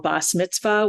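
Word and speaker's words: Bas Mitzvah: Saturday morning boss Mitzvah what they would have called boss Mitzvah with the um ashkanazi pronunciation instead of that hard te of the sapharic pronunciation and on Saturday morning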